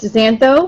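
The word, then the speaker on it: xantho: black and Zano it's pronounced Zano with an X and that means yellow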